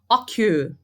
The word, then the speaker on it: occur: Occur. A sílaba mais forte dele é a última, occur.